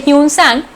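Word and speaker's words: Xuanzang: 12, the Chinese traveller ह्यूनसांग, जिसका pronunciation हम इस तरह से करते हैं ह्यूनसांग, who visited India, recorded the general conditions and culture of India at that time.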